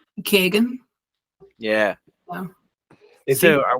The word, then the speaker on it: Keoghan: I thought it was like just Kogan or like Kegan, maybe even. So with an Irish like dialect, it goes like Kagan.